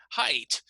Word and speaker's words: height: you look at the height right it uses that e I ght which actually looks like the word eight but here we pronounce it with an i sound height right so for example